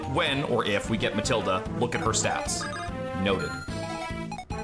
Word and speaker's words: Matilda: How How would you pronounce that name? Matilda. Okay. So, you don't pronounce the H after the T. It's like a silent H.